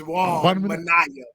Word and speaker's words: Juan Minaya: It's Juan Minaya, man. Juan Minaya. It's Juan. No, you gotta get the little extra Juan.